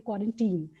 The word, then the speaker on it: quarantine: You're familiar with the word Valentine, it is similar, say quarantine.